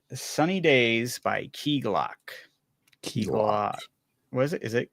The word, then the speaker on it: Key Glock: Key Glock.